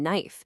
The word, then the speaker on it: knife: You've got the silent G in sign, the silent K in knife, the W in right, and oh yeah, that really sneaky T in the word listen.